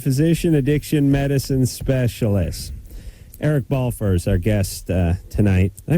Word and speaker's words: Balfour: physician yeah board-certified physician addiction medicine specialist Eric ball furs our guest tonight I pronounced that right yeah you pronounce that excellently